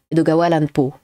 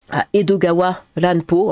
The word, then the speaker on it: Edogawa Ranpo: Et si vous le dites vite, ça te fait Edogawa Ranpo. Edgar Allan Poe. Bah, n'hésitez pas à regarder ces bouquins aussi. Edogawa Ranpo, hein, ça s'écrit comme ça.